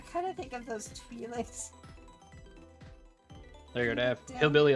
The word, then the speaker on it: Twi'lek: That pronounced Why? Twi'lek, but sure.